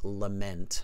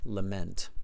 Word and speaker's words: lament: The pronunciation is lament. Lament.